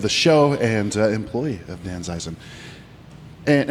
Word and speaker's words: Danzeisen: Well, Eric Green, my friend and friend of the show and employee of Danzeisen. And am I saying it right, Danzeisen? You are.